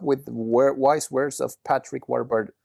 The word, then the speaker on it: Warburton: wise words of Patrick Warburton. It's a hard last name to pronounce. Yeah, Warburton. Yeah. Well, Warburton. Warburton is the British way of saying it. Warburton is probably the American way.